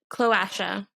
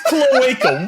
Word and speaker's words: cloaca: us guys i mean it's pronounced cloacia like shimura no it's a cloaca oh jesus christ it's cloaca what the [ __